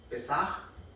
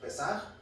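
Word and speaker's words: פסח: En hebreo es Pesaj, ¿sí? Esa es la pronunciación en hebreo, Pesaj, pero no tiene una J al final, sino una H.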